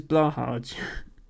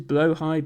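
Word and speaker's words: Blåhaj: you pronounce it as Blahaj. As in, yes, Blahaj Mahal. I've tried to start pronouncing what I think is the correct Swedish pronunciation, which is blowhigh, but I could be completely wrong on that.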